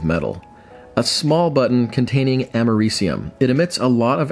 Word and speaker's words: americium: hands on some radioactive americonium just look up brand's container uh real quick editor jay here uh apparently i was feeling a little extra patriotic because it's not pronounced americanium it's americium i say it a